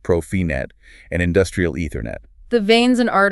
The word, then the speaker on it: Profinet: This is where we get into the world of Profibus, pronounced Profibus, Profinet, pronounced Profinet, and industrial Ethernet.